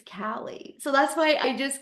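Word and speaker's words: Caleigh: names because I W my daughter's name is Callie and it's spelled c a l e i g h and nobody said her name right so I watch the poor girl's face her whole life go it's Callie so that's why I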